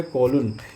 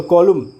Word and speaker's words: COLUMN: कॉलून भी पढ़ता है, तो कॉलून ही सही उच्चारण होता है, एन पे जाके एंड होता है, तो कॉलूम भी लोग कहते हैं, वो भी चलता है, इंडियन इंग्लिश में वो